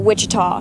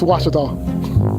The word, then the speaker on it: Ouachita: cheetah oh wish tall back in texas everybody pronounces it wichita but really it's ouachita washington washington how would you pronounce it baptist university get it right it's watertall people it's watch it all watch it the american dream to me